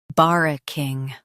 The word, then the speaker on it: barracking: bar uh king barracking Stress bar and keep uh light.